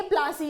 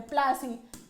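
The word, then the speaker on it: Plassey: वहां से जो है ये प्लासी आया है, प्लासी, ठीक है। Anglicised pronunciation version of English, ठीक है।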